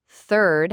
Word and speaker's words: third: Third has that TH sound, while turd does not.